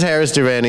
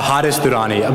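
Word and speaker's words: Haris Durrani: Let me just let me shout out the questioner though, because this is Harris Durrani. He wrote a really Am I pronouncing it right? Hadis Durrani, but whatever is easier.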